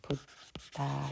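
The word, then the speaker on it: buddha: 붓다 이러면은 여기는 부가 되고 다 여기서는 엄밀히 말하면 DA가 다예요. 그런데 이제 여기 H가 하나 있으니까 원래 그 발음들하면은 그 된 소리가 좀 들어가요. 이게 들어가서 붓다 이렇게 발음해야 되지만 우리로서는 그렇게 발음하기 힘들잖아요.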